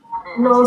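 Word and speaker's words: Knorr: The Australians, they don't say the word no, they say nor. Nor. That's all I heard when I was dating this one Australian girl. She's like, nor. I'm like, it's not nor, it's no.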